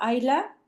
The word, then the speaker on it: Isla: Ah, a ver, el nombre de la doctora Aisla se menciona como Ayla porque se escribe como Isla.